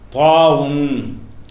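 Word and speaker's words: ط: அது ஒன்னும் பிரச்சனை இல்லை இந்த தா தாங்கறது என்ன செய்வாங்க? தோய் தோய்ன்னு சொல்லி தருவாங்க உங்களுக்கு இதுக்கு பேர் வந்து தோய்ன்னு கிடையாது. தாவுன் அதுல சுக்கு ஒன்னு போட்டுவிட்டணும் தாவுன் தாவுன்ல இது தாங்கிற எழுத்தை வந்து அதுக்கு பேர் என்ன தாவுன் அல்லது தா அதுக்கு பேர்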